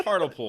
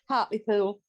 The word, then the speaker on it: Hartlepool: Rebecca, it's Hartlepool, right? Hartlepool. Hartlepool. Okay, I never knew how to Hartlepool.